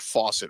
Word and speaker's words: Faucet: football hey faucet uh he pronounces it faucet right it's not like French like f or something F